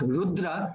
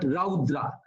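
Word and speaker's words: रौद्र: And similarly, it's not rudra, but raudra.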